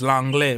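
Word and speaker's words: Lenglet: as long as Langley is not even say Langley because it's French. It's Langley. We call him Langley, but I know what you mean. He's French, so I know how to pronounce his name.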